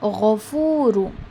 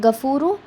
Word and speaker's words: غفور: Last word is ghafuru. It is not gafuru. Okay, it is not ga, it is gha, it is ghain, gha. Okay, ghafuru, ghafur.